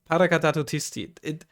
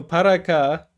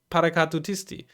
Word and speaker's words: Paracadutisti: No, Paracadutisti. Paracadutisti. Oh no, I always had like one syllable too much whenever I. Paracadutisti is always what I said, I think. But it's Paracadutisti.